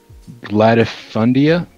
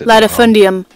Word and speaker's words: latifundium: placement has a root gladifundia and serfdom latifundia i don't know i said that wrong guarantee this latifundium said it right right a large landed